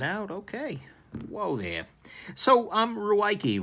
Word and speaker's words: Ruike: So, Ruike, rake. I know it's pronounced rake in pinyin if you spell it out like it is here, but that's just not helping any of us trying to do gear reviews.